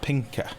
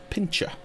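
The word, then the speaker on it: Pincha: sweeper the pink a pepper nuts apparently it's pronounced Pinker I've always pronounced it pincher but apparently it's Pinker climate change the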